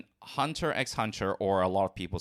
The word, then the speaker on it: Hunter x Hunter: family right always uh officially they're both Hunter Hunter and spy family however while I do say hunter hunter I say spyx family